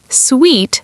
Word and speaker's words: suite: So suit sounds like suit or suit. Sweet sounds like sweet. Very different sounds, despite the similar spelling.